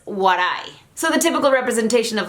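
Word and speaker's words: 笑: The symbol for laughter is this symbol that you're seeing right here on the screen, and it is pronounced warai.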